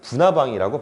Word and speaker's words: 불나방: 앞에 리을이 있고 뒤에 니은이 붙은 거예요. 근데 그때 앞에 리을을 빼버립니다. 그래서 이 솔나무는 우리가 소나무라고 발음하고요. 불나방은 부나방이라고 발음해요.